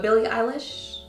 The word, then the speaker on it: Billie Eilish: But Billie Eilish, right?